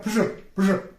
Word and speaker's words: Pjoul: On dit Pjoul. C'est le je. Ce son, c'est un je. Pjoul.